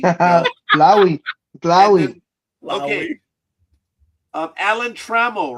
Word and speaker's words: Trammell: It's Trammell, not Trammell.